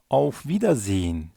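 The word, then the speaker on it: Auf Wiedersehen: en meşhur vedalaşma kalıbımız auf viid Zin auf viid Zin görüşmek üzere hoşça kal demek oradaki H harfini yumuşak G gibi okuyoruz auf viid Zin vida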